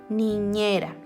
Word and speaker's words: niñera: Por ejemplo, la primera palabra, niñera, niñera. Tiene una r, pero no puedo decir ra. Niñera.